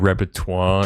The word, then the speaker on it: repertoire: You think repertoire is the word?